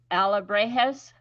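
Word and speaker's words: alebrijes: has Ella she sent me a voice message pronouncing it Alla brejes yes yes I'm not getting it yeah yeah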